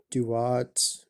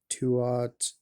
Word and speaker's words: Duat: common ones are uh, Duat, which is also sometimes called Tuat, and maybe just called uh, DAT or TAT in the earliest, like a one syllable word in the earliest renditions.